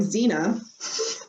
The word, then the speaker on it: Zina: Anyway, my daughter's name, Zina, it sounds very much like zine.